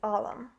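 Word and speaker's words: علم: The title of my project is Alam, which is the Arabic word for knowledge. When transliterated to English, Alam is spelled I-L-M, which I use as an acronym for Interchange for Language and Mentorship.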